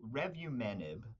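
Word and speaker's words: revumenib: patient care yeah so first off so so revu menb um you you were close it's actually you know I think your pronunciation was was was close to Target but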